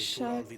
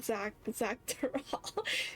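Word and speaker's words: Xak Tural: Our brother was in Shaktural leading the Landsguard on a campaign to Shock- eradicate the shock- Tural Vidral. Tural. Oh, that's how you pronounce it. I've been saying Zach Tural.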